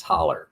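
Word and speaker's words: hollow: Holler. Yeah, that's how we pronounce it around here.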